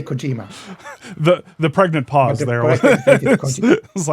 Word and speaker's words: Kojima: I guess I'm trying to detect like not apply to Okay, say say it the correct way. Kojima. Kojima. I think I'm stressing the G.